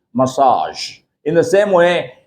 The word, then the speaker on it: massage: a body massage because that's a French word and this particular word is borrowed from French into English and for that reason